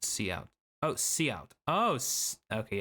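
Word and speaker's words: cout: This code uses a method known as couch pronounced see out.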